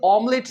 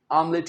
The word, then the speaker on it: omelette: अब इससे ऑमलेट नहीं, आमलेट कहना है आपने।